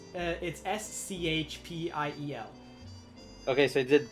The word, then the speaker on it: spiel: It's SCHPIEL. Okay, so I did pronounce That's it.